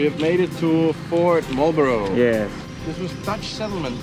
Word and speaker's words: Marlborough: we're gonna visit Fort, how do you say it? Marlborough? Yes! Marlborough. Like the cigarette.